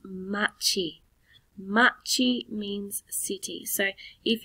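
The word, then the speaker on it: 町: the word for city or town it is pronounced machi machi means city so if you were talking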